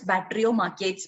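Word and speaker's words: Batrachomyomachia: okay battery or machia actually the spelling is slightly difficult b a uh t r a c h o m y o m a c h i a that is bacterio markets pronunciation and we don't know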